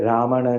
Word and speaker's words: Ramana: प्रियजन Radhika Ramana Radhika रमण हिंदी में रामण लिखा है, रमण करके प्रोनाउंस करना है।